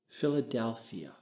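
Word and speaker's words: φιλαδελφία: Let me pronounce that phrase for you in the Greek. Philadelphia.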